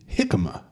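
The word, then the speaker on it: jícama: but from someone else that it is the hikma you're supposed to pronounce the J as as a h so it's a hikma now how do how did I know about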